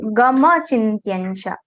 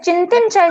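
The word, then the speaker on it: Sarvatra gam chintyancha: Just gam chintyancha. Ma is going little soft. Gama chintyancha. Ma should be complete. Sarvatra Gama Chinting. And just that answer is pronounced as yan, na? Sarvatra Gam. Yes, Chintincha is perfect. Anusar pronunciation is perfect. There's no problem. Sometimes we just twist our tongue, Chintyancha. We say like that to know, yes, there is nya, not the na. But Chintyancha is perfectly fine.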